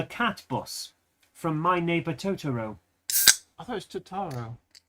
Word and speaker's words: Totoro: The consonant and vowel together pieces that make up words are all pronounced the same length, so it's Totoro.